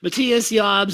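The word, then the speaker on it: Matthias Jabs: schenker and matthias jobs you got the name right i did of course that's how you say it matthias jobs of scorpions and also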